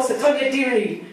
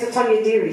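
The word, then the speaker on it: Sotonye Diri: name, it's from this seminar that we know Sotonya Diri, then I'll crucify you. Her name's Sotonya Diri. Sotonya Diri.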